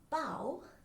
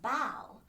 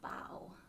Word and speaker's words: bao: all sorts of different bow and the kitty is thinking bao like bao not like bo because there are different ways to pronounce it but the americanized way is bow oh there's amy whoa